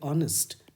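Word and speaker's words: honest: H silent है तो उच्चारण कहाँ से हो रहा है, ओ से, इसीलिए ऑनेस्ट, तो एन ऑनेस्ट मैन।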